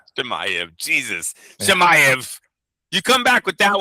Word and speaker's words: Chimaev: Chimaev. Jesus. Yeah. Chimaev.